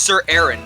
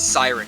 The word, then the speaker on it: Sir Aaron: our match here uh it is pronounced sir aaron not siren my bad uh for